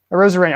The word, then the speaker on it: Arozarena: Is that how you pronounce his last name? Arozarena.